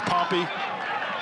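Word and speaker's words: Pompey: not Cairo it's Koo you're up in central New York it's not pompe it's poy one thing about this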